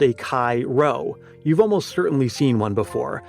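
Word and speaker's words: chi: The letter Kai represents the K sound formed by combining C and H as in Christ.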